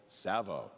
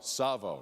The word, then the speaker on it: Savo: you should know called tsavo rhymes with Bravo tsavo rhymes with Bravo keep